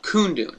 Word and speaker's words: Kundun: But he did a movie about the Dalai Lama called Kundun. It's spelled K-U-N-D-U-N.